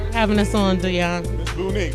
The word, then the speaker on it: Beaunique: Is that it? Beaunique? That's right. I said it right.